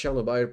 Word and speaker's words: Chernobyl: It's Chernobyl, pronounce Chernobyl. At the end, not bile.